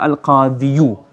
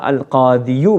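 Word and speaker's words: القاضي: we should say ja al-qadiyu. But because a dhamma on a ya is deemed to be harsh in enunciation, hard to pronounce. So instead of saying ja al-qadiyu, we say ja al-qadi.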